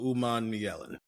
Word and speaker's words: Umanmielen: Princewell Umanmielen is how we pronounce Princewell's last name.